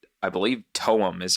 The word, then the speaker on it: TOEM: It was called, I believe, Toem is how you pronounce it, but Toem is the spelling.